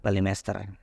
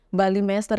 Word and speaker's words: Balimester: kayak Mister gitu ya cuman kalau orang kita orang Indonesia yang tulisannya Mister ya bacanya Master aja Oke deh nah Berarti kesejarahan di balimester ini memang luar biasa